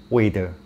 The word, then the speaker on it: whether: So amra bolte pari W H E T H E R uchcharon ta weather not weather.